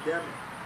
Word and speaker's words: Dhimmi: And that's the doctrine of the Demi, okay? And I'm going to spell that because I'm not sure I'm pronouncing that right. It's Dhimmi.